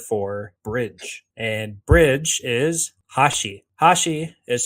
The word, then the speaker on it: hashi: And bridge is hashi. Hashi is spelled Hashi.